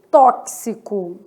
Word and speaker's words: tóxico: X com som de KS, tóxico. Nesse caso de tóxico, eu tenho 6 letras e 7 o quê? Fonemas, tá?